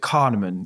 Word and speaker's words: Kahneman: Daniel, is it Kahneman? Yes. Is how you pronounce Yeah.